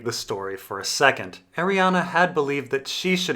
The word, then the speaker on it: Arianne: Ariana sample chapter and yes I pronounce her name Ariana we last Saw Ariana